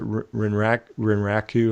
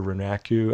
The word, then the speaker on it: Renraku: And shout out to my buddy David at, I think you pronounce it Renraku or Renaku. I can't pronounce his prop name page. It's RENRAKU.